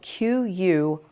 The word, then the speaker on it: quinoa: it is a very nutritious super grain it is spelled q-u-i-n-o-a and it is pronounced quinoa um it's a